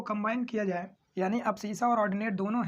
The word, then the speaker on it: abscissa: और यहाँ पर देखिए, यहाँ पर जो x, इसका x वाला कोऑर्डिनेट होगा, इसको हम लोग बोलते हैं एब्सिसा, ठीक है, एब्सिसा।